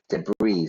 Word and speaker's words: debris: medical team and clearing debris debris so all the destruction you know so notice the pronunciation we don't pronounce the S deis rles is loving